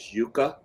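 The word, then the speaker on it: Yuka: an app out there I think the pronunciation is yuca it's y-u-k-a app and you can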